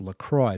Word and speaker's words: LaCroix: no Grace it's pronounced Lacroix there's no n in the spelling and she'd say oh